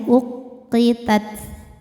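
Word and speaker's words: أقتت: Wa idzar rusulu uqitat, tekan qafnya ke ke pangkal lidah ya, uqitat.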